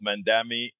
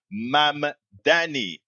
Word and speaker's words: Mamdani: and it covered both Mandami. I keep saying it wrong. Mamdani and uh, uh, Taylor Green, Marjorie Taylor Green.